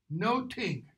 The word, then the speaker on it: nothing: think nothing my lord nothing however is pronounced no King in Shakespeare's day no ting like Newton I think noting but paying attention to